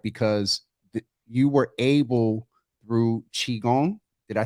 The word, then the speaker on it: Qigong: bit and cried because you were able through Qigong. Did I say it right this time? Medical Qigong, yeah.